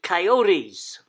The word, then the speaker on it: coyotes: More commonly seen inside and outside the national park are coyotes, or as the Americans say, coyotes.